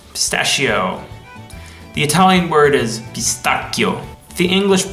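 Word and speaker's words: pistacchio: way is parmigiano pistachio the Italian word is beast akio the English pronunciation of this bolognaise came from French and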